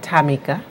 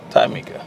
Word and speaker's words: TJameika: The J is silent. It's actually pronounced TJameika. TJameika.